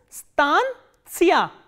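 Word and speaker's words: станция: And the stress is on a. So, that you have to keep in mind. This is stantia, stantia, stantia.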